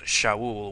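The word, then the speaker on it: שָׁאוּל: um so anyway Saul from the Hebrew word pronounced Shaul which means Asked or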